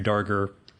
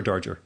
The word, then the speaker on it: Darger: you and the Henri darker it's darker or Darger well I think darker many people say Darger and I Henry Wessels corrected me this morning so I'm gonna go with with a hard G yeah I've heard both